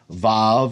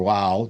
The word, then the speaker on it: vav: Some people say that the vav the next letter in the Hebrew alphabet vav or wow depending on how you pronounce it vav.